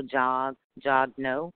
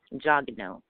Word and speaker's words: Jagneaux: I tell people this, like I'm kind of chubby, and so I say no Jagneaux. You can say it like that, Jagneaux. That's the American way to say it, Jagneaux.